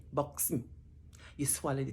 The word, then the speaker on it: Buxton: You see, we have two syllables, Buxton, X-T, consonants. They come together. And sometimes we have what we call a glottal stop. That means you swallow the T and you say Buxton.